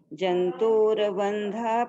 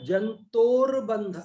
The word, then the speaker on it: जंतुर्बंध: राग द्वेष कृताभ्याम जंतुर्बंध प्रवृत्ति वृत्तिभ्याम तत्व ज्ञान कृताभ्याम ताभ्यामेवेक्षते मोक्षः। एक ये जंतोर बंध, र आधा है, यहाँ पूरा नहीं है। आप जो उच्चारण कर उसमें र पूरा बोल रहा है।